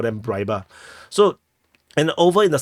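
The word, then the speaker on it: Rybar: information is coming from the pro Russian source riba and U and for is also it's actually pronounced as Reba I juste prefer to call them RBA so and over in the southern flank Russian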